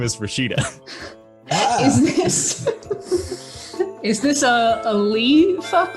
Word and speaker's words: Rashida: Is that how it's pronounced? Yeah. Then her name is Rashida.